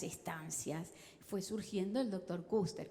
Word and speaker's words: Kuester: Fue surgiendo el doctor Kuster, que algunos le dicen Quester porque se escribe Quester. Y no sé cómo es que se pronuncia en alemán, pero algo así como Kuster, algo así medio raro.